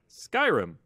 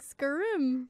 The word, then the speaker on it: Skyrim: the same to you there's an ey in it think of like sky and then R there you said it right Skyrim you're making it sound like skrim scrim or like Skyrim scri it's Skyrim what okay yeah right